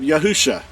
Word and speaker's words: Yahusha: shah or salvation put them together you have yahusha um here's yahoo and then shah that's how it's pronounced it says isha is the root of